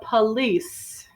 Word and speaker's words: police: and police call the police all right it's a little tricky because you would expect that the o would be a long o police but it's more common to use the uh sound okay number seven she'll